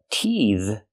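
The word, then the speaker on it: teethe: But teeth is a verb and the th makes the voice sound the like in father and mother.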